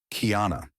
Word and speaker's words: Kiana: Her name is Kiana. Not Kia, not Anna. Kiana. She insists on the full elegant pronunciation, claiming it sounds expensive.